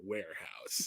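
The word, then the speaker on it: Wherehouse: our local movie hut it was called the warehouse it was spelled with a w-h-e-r-e where the warehouse the warehouse so how what love a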